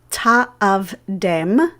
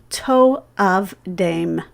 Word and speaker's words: to'avdem: But the vowel pattern here indicates to us that we should pronounce this word not ta'avdem, but rather to'avdem.